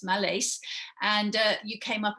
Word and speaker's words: Mallace: name is spelled m-a-l-l-a-x-c-e wallace but with an m yes malays and uh you came